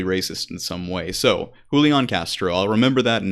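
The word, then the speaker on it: Julián: the first time and the Jay sounds like an H okay thank you perfect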